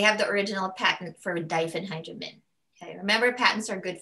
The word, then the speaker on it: diphenhydramine: is benadryl generic is diphenhydramine okay so take note when you see i n e we don't pronounce it as uh americans usually pronounce it ein we pronounce it when